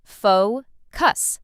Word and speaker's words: focus: Some learners put the stress in the wrong place, but it's simple. Focus. Stress on the first part.